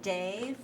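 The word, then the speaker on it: Dev: guru guru and then dave rhymes with brave they and then again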